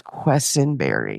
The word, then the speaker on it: Quesenberry: And for at least a decade, my sister Mandy could not pronounce her name. Eventually I just sat her down. I was like, it's Quesenberry.